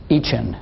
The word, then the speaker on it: eCHN: we are all about each end is the way it's pronounced the electronic child Health